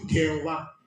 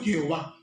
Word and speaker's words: Jehová: Y con el tiempo le pusieron una E, una O y una A y se pronunció Jehová. ¿De acuerdo? Yahvé y luego Jehová.